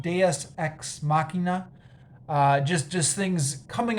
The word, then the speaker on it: deus ex machina: filled with uh i believe the term is pronounced deus ex machina uh just just things coming out of nowhere